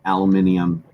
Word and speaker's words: aluminium: Why do Americans believe that last I is silent? Because in America we don't even use a last I. Yeah. But it's spelt with I-U-M, and you guys say, nah, don't bother with the I.